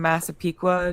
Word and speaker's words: Massapequa: He's from Massapequa, New York. Did I pronounce that right?